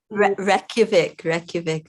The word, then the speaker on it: Reykjavik: city of, I don't know how I should pronounce it. Reykjavik.